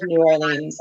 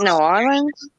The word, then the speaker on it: New Orleans: Isn't it New Orleans? Like you don't really pronounce the R, isn't it? Nowlands?